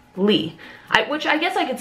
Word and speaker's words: Leigh: the most, but it's Lee. Which I guess I could see, L-E-I-G-H, right? So I guess I could see why people would put, but it's Lee.